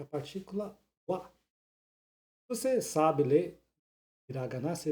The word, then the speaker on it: は: daqui não é o wa, é o ha. Em japonês, H tem som de R forte. Mas quando é usado como partícula, a pronúncia é o wa.